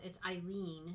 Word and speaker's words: Eileen: It's Eileen. I think I said Ellen Bennett, but it's Eileen.